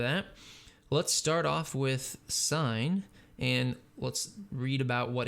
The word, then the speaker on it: sin: function which has an abbreviation of s i n but is still said or pronounced the same way sine so it's not sin it's sine the cosine function and